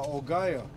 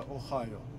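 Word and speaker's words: Ohio: А Огайо, как бы оно ухо мне не резало, это Охайо. И Hyundai, это у нас Hyundai, а не какой-то там Hyundai.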